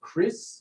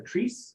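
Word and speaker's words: kris: originated in indonesia and those are called chris or tris spelled k-r-i-s they're typically a little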